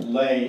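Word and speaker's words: Löhe: So who was Pastor Leah, pronounced Lay, L-A-Y-A?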